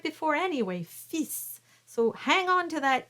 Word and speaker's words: fils: Le fils du roi s'en va chassant. So that word fils is coming up. So that S is definitely pronounced, but the L is silent because we're talking about the king's son, the prince.